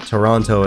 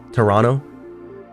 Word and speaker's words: Toronto: Also, apparently Canadians will say Toronto, whereas Americans say Toronto. But apparently it's like a Canadian accent to say Toronto. I'm from Toronto. They can tell you're American as soon as you say Toronto.